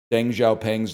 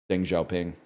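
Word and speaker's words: Deng Xiaoping: And I was like, I pronounced Deng Xiaopang's name wrong.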